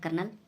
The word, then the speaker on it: Colonel: अगला वर्ड है बोला जाएगा कर्नल, लेकिन स्पेलिंग जो होती है COLONEL, और लिखते टाइम भी आपको कर्नल ही लिखना है, कर्नल, कर्नल कैपिटल आता है, ठीक है।